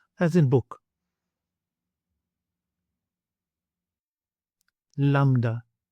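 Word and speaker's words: λάμδα: Lambda, lambda. So it has the same sound as in English L, as in Lima and lamp, but the capital and the lowercase may not be familiar to you.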